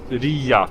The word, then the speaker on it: Riia: It was used to be spelled with a J and then the Germans turned it into a hard G. and uh Estonian in Estonian old Estonian it was pronounced Ria and it still is today and that's where the